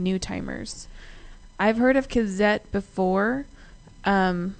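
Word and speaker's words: Cazzette: I've heard of Kazette before, and I say that way because it's actually spelled with Z, C-A-Z-Z-E-T-T-E, all caps, but they're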